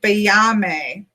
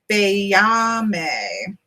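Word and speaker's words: Baiame: It says Bayame. Bayame is how it says.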